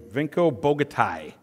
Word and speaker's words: Vinko Bogataj: Vinko Bogataj.